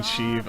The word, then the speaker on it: Sheev: It's fucking Sheev.